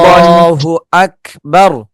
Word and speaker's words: আকবার: হুজুর একটু আল্লাহু আকবার। এই যে শেষে যে আল্লাহ শব্দ মোটা, শেষে যে র আছে, এই রটা মোটা হবে নাকি পাতলা হবে? ওটা মোটা হবে, বাড়ি মোটা হবে।